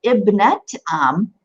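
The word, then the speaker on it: ابنة عم: And you'll notice that I'm pronouncing this ta marbuta as the letter ta.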